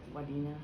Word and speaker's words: Wadena: Yep, Wadena. Wadena? It's spelled different.